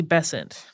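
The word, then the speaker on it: Besant: the attention of Annie bessent most American pronunciations of this seem to rhyme with crescent so we're going with that she was a socialist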